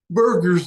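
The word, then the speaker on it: Buerger's: Burger's disease. It's not spelled like hamburger, although I used to say that, B-U-E-R, Burger's disease.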